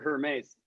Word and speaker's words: Hermes: this dancer guy, this dancer Hermes, it's pronounced Hermes.